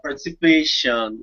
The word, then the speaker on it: participation: no it's oh God participation oh God yeah that's it so this case it's really easy because whenever you have sound it's just Shan or let's say yes